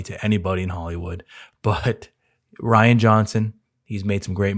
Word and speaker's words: Rian: the director Ryan Johnson it's Ryan not Rion that's how I've always